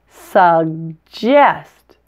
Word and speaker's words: suggest: word suggest is different you actually pronounced both G's separately and they each have a very different sound the first G is